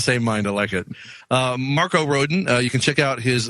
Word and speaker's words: Rodin: can check out is it is a road in a row dan like the sculptor in Mexico it's roedean every country accented syllable of it smells differently so i just say Rodin Rodin Marco rodent